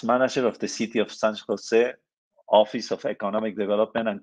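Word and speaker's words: San José: digital media arts from San Jose State University probably you you pronounce San Jose very differently than me but San Jose in Spanish sounds like San Jose sorry okay Daniel social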